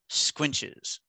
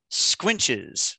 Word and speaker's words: squinches: is correct all right our next word is squinches squinches um count the definition the definition is supports such as arches or lentils carried across the corner of a room under a superimposed mass squinches okay um kind of the part of speech